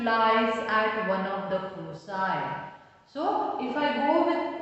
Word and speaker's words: foci: Together they are pronounced as foci, F-O-C-I.